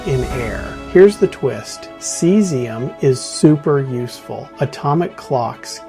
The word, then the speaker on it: caesium: Seesium. Yeah, you heard me right. Not calcium, but cesium. It's pronounced cesium.